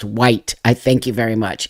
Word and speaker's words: Wight: Um Oh, is Isle of Wight is produced pronounced white.